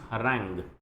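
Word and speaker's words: harangue: Next word is हरैंग। Next word है हरैंग। हरैंग, ये pronunciation इसका, हरैंग।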